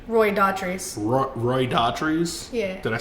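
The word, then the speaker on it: Roy Dotrice: Roy Daughtry.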